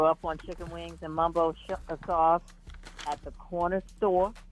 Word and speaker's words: Mumbo: a Mumbo Mambo yeah so I said Mambo because it's spelled Mambo but the Mumbo the real the original Mumbo is spelled m-u-m they spell it m-a-m so you know and